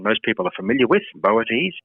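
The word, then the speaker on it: Boötes: is the brighest star in the constellation of boates that's not a constellation most people are familiar with boates it's spelled b t and it means the herdsman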